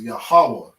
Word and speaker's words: Yahweh: When you read through your Bible, you might see Jehovah or Yahweh. Okay. But the proper way to pronounce that is Yahweh.